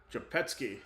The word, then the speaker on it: Rzepecki: Japetsky. That's how you pronounce it.